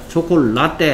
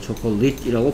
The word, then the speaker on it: chocolate: Chocolate 할 때 초콜라떼 아닙니다. 라떼. 초콜라떼 아니고요. 초콜릿이라고 발음해야 되겠죠.